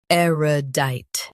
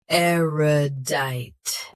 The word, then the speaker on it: erudite: Eerodite. Both US and UK have the same pronunciation of this word. Stress R. Keep E light and dite crisp. Aerodite. Aerodite. Stress R. Keep e light and dite crisp.